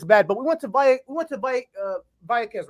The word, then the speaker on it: Vallecas: But we went to Vallecas, right? That's how you pronounce it. Vallecas. Yeah. Vallecas, excuse me. I need to pronounce her name right. Vallecas.